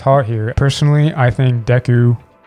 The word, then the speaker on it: Deku: here personally i think deku like dexter that's how you say it someone said it's like i'll deck you well he did deck